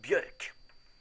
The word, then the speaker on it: Björk: It's pronounced Björk.